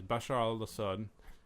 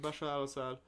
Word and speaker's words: Bashar al-Assad: Bashar al-Assad. Probably pronouncing pronouncing it wrong. No, that's right. Bashar al-Assad 23%.